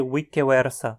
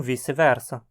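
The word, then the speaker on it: vice versa: tradição já vai só muito estranho você chegar e dizer wik wersa no meio de uma fala em português né todo mundo tá acostumado com vice-versa se você for falar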